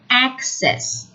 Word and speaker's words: access: and the noun is access with a stress on the first syllable some people may prefer